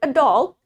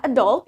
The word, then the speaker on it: adult: Where in American, yang mana di aksen Amerika, the stress for the word adult is in the second syllable. Yang mana penekanan suku kata di kata adult itu ada di suku kata keduanya.